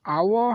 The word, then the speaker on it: hour: বি টো আছে dash hour has passed since she left us তো আমাৰ কি হ'ব এটো যে hour again h টো সাইলেন্ট আছে তো h উচ্চাৰণ হোৱা নাই আ হৈছে তো আ